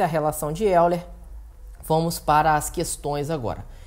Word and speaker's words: Euler: Que se escreve Euler, né? Se lê Euler, que é dado por